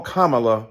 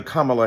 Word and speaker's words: Kamala: you call Melania Melania do you call Ivanka Ivanka then call Kamala Kamala then call vice president